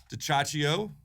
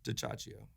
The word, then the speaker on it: DiCioccio: It doesn't sound the way it's spelled, or unless maybe you're Italian and you know how to say those letters together. But DiCioccio.